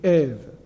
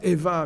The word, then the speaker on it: Ève: Ainsi, Ève, qui se prononce, donc, on a l'habitude ici de dire Eva, mais c'est Ève puisque c'est un mot malgache, et elle est donc